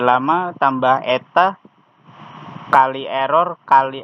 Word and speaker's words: eta: Selain itu kita perlu suatu nilai yang disebut dengan learning rate yang dibaca eta, dibacanya eta, bukan N pincang.